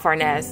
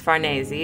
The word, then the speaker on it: Farnese: that we made about furnace and actually her name is pronounced Farne Z it's Italian but you know furnace is easier right so we said that